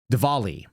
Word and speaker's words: Diwali: about this thing called Dvali, DI? It's a W, but it's pronounced with a V, I'm told.